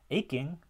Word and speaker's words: aching: akin we get aspiration but in a word like aching aching aching there's less or even no aspiration there's no puff of air with that k that's spelled with a ch for some reason because the the stress is actually on the first um syllable a and then king is unstressed so aching is the is the syllabification of that and so we get